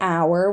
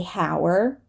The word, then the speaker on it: hour: the throne for example this is an hour we do not say Hower honest right we do